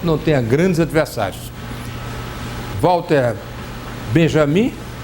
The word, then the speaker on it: Benjamin: Walter Benjamin, ou Benjamin, se quiserem pronunciar em alemão, o J da sua como I, já tinha antecipado a